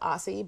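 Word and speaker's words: açaí: Okay, acai good. berry, right. Then the reason why I brought the acai berry juice is because of the fact acai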